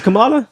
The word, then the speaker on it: Kamala: I've heard people say Kamala. It's Kamala. Kamala is from around the way. So how do you say it? Kamala. That's a fact. Yeah. Okay. Kamala. around the way. Kamala. Whatever. Potato. It's all the same. It's not. But It's not.